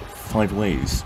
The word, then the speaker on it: Five Ways: way it's pronounced apparently locals call it five ways with no particular emphasis on any syllable i find this hard